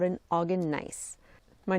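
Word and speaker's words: gneiss: This rock is a nice which is spelled G ne I SS.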